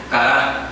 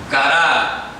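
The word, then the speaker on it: qara: La palabra hebrea es Kará, con Q. Kará, a mí. Q-A-R-A.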